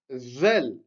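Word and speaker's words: ذال: Ensuite, zel. C'est pareil que le del, mais avec un point. Et pour prononcer le zel, pareil, on met la langue entre les deux dents. Zel.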